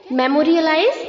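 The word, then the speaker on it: memorialize: हैं रियलाइफ करो इसे वैसे ही आपको मेमो बोलना है आगे रियलाइफ प्रोनाउंस करना है ठीक है मेमो रिलाइज मेमोरियलाइज्ड मेमोरियलाइज्ड क्लियर यादगार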